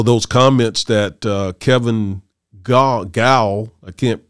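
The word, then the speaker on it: Gough: kevin gal i can't is it gal how do you pronounce his name gal or i don't know if it's goth goth golf i think it is golf yes uh the the spelling is g-o-u-g-h i believe and uh when he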